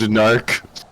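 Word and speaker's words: Gnorc: gnarl he's got a he's just named narc with a g with a silent G you know so it's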